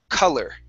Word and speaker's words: color: be an a ler so the first o is an uh the the or would then be an er sound color color there you go